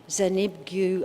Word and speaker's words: Zbigniew: Well, it's a beautiful, beautiful piece of music by a Polish composer, Zbigniew, I think is how you pronounce his first name, Preisner.